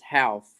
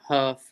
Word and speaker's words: Houff: last name properly yeah my last name is Hal it's like house with two FC not huff or whatever it's a house how